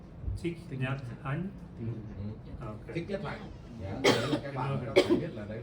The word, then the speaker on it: Thich Nhat Hanh: But I don't know how to pronounce his name. Thich Nhat Hanh.